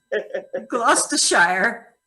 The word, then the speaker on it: Gloucestershire: funny you want to say it for me glass to shire you've actually done all right that's the show